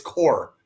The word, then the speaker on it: Corps: That's how you pronounce it. It's core.